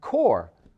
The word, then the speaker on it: corps: in the word peace but in the word core c-o-r-p-s which also contains a silent s there is psychology that